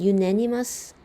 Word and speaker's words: unanimous: 근데 어 could win unanimous support 어 유네니머스라고 읽으셔야 돼요. 언니 아니라 유네니머스고요.